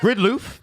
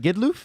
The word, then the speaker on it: Gidlof: you've pronounced his name five different ways. Well, it Gridloff? Is it Gidloff? I think it's Gidloff. Gidloff? Gidloff? Gidloff. Gidloff. It's g i d l o f.